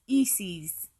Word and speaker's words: Isis: use the name Isis she could have pronounced it in one of the ways it is said to have been pronounced in ancient Egyptian as a form of remembrance to her former life this pronunciation was E's if I say that properly if word got back